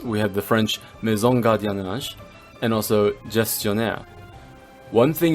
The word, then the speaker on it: gardiennage: In this case, the G is pronounced with a G sound if the next letter is an A, O, or U, so you get the other sound if there's an E or I.